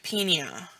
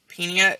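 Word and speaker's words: -pnea: that P sound but if the PN is in the middle of a term you pronounce the p and then the N all right here we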